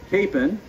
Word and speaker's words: Capon: a place of healing the whole word that we use today which of course we pronounce capen is a much anglicized native american word that means either medicine